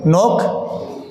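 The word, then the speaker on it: knock: ना इन the pronunciation तो नोक के साइलेंट है ऑनेस्ट ए साइलेंट है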